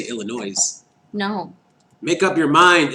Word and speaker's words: Illinois: you say this planes how we don't say illinois's no make up your mind Illinois what your